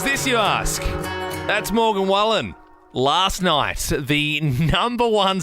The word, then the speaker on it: Wallen: weird guys you said Wallen you said Wallen how it's spelled but it's Morgan Wallen yeah right yeah well